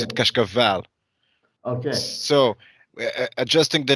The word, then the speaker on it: Cascavel: In Portuguese we pronounce it Yeah. Cascavel.